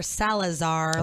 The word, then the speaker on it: Salazar: and I have Tony Salazar Salazar like salad as I've been pronouncing